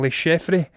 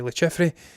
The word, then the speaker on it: Le Chiffre: the infamous Bond villain, Le Chiffre. I'm going to say it's Le Chiffre because it's French and they like to complicate the pronunciations of words a little bit too much.